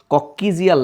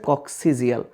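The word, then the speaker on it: coccygeal: দেখো এগুলো শর্ট সিলেবাসে, তোমরা জানো মানুষের কশেরুকা সিরিয়ালটা হচ্ছে সার্ভাইকাল, থোরাসিক, লাম্বার, স্যাক্রাল এবং কক্সিজিয়াল। যদিও বইয়ে কক্কিজিয়াল লেখা, এটার উচ্চারণ হচ্ছে কক্সিজিয়াল।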